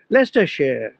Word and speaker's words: Leicestershire: But they will pronounce as share, no longer as shire. Gloucestershire, Leicestershire, তাই তো।